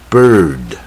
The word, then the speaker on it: bird: 那这个鸟呢不好念，英文要念准不好念 bird，它是舌头呢是最往下伸，就像土